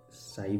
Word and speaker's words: psi: It is called psi, vampires in this the P is silent as if it is psychology etc.